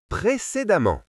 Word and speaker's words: précédemment: Quand la lettre E est suivie par 2 M, elle se prononce souvent A, comme dans les mots femmes et évidemment. Lisons ensemble ce mot précédemment.